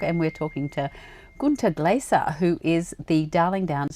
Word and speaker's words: Glaser: You know, the difference, but the Glasser was in German you pronounce it Glasser like drinking glasses.